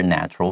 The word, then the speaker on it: natural: Yeah, 所以这边的话呢，就延续到我们昨天所讲的东西，它可以变成人形嘛。所以在这边他提到说，some Tanuki 有一些狸猫呢 prefer to live as humans，他比较喜欢用人类的方式、人类的身份来生活，rather than be in their natural form，而不是变成它原本狸猫的样子。这个地方有 prefer to do something rather than。后面的话可以直接接动词，这个地方